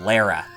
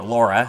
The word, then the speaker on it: Lara: be under the name Lara L A R A or Laura however you want to say her name so anyway we go